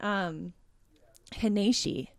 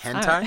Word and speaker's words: hentai: And I kept calling it Haneshi, but it's not Haneshi. It's hentai.